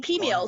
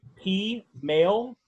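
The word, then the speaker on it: peameal: You're using pea male. Pea meal.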